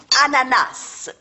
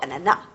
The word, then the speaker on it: ananas: Ananas. Pardon? On ne dit pas ananas. On prononce ananas. On prononce le S à la fin.